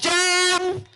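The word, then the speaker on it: Jon: His name is pronounced John.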